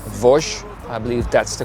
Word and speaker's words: Vosges: We are on our way to an area in France which is called Vosges. I believe that's the correct pronunciation.